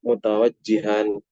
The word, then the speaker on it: mutawajjihan: Tadi yang betul bacanya apa? Mutawajjihan ya. Ini tanpa harus tahu ilmu nahwu sudah jelas kenapa dibaca mutawajjihan.